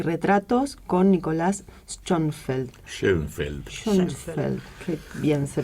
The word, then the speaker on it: Schoenfeld: Schoenfeld. Qué bien se pronuncia.